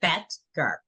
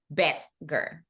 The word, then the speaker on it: Boettger: Boettger. Boettger.